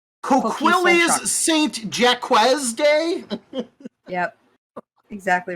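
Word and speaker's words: Coquilles Saint-Jacques: Or You don't is pronounce the that T. Coquilles Saint Jacques Day?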